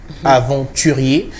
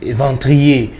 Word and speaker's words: aventurier: Aventurier, alors que souvent on entend parler des ventriers, yosa ventrier, hein, un peu comme ça se dit en lingala, mais ce n'est pas la bonne prononciation, c'est aventurier, aventurier.